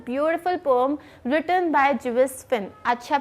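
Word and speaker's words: Gervase Phinn: इट्स a beautiful pome written by जुवेस फिन। अच्छा, प्लीज़ इसको जरवेस वगैरह मत बोलना। दिस इज जुवेस फिन, जिसमें कि आर जो है इट्स साइलेंट।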